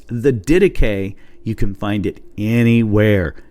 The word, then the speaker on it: Didache: It is the dedicay. And let me spell that for you.